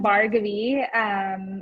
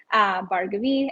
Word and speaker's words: Bhargavi: I'm Bhargavi. It's pronounced like it sounds. Bar as in a place you go to get a drink. Gov, shorter form of government, and the letter E. Bhargavi.